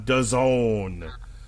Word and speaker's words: DAZN: versus Solomon on DAZN, which, as we like to remind people, rhymes with calzone.